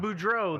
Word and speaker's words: Boudreaux: Help me with the pronunciation. Bordeaux. Is it Bordeaux? I think it's Boudreaux. Boudreaux. That's it.